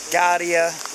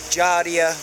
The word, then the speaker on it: giardia: had a stomach problem guardia giardia depending on which country you're from how it's pronounced upset stomach diarrhea actually